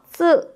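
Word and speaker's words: つ: 여러분 츠라는 발음이 사실 한국어에는 없는 발음이어서 우리가 어렵게 느낄 수 있는데요. 약간 스와 츠의 중간 정도 발음이다라고 생각해 주시면 좋아요. 그래서 쓰 요런 발음이 난다라고 봐 주시면 좋겠죠.요 요 단어는요.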